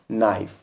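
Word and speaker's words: knife: फिर है एन और यहां पर भी के रहेगा साइलेंट और इसको पढ़ेंगे हम नाइफ।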